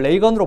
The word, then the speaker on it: 레이건: 근데 기자들한테 리건으로 부르지 말고 나를 레이건으로 불러 달라 그랬어요. 그 다 지금 레이건 대통령이라 그러는 겁니다.